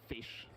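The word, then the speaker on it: ghoti: is pronounced the O in women is pronounced E, and the T-I in nation is pronounced sh, then Gori is just pronounced fish.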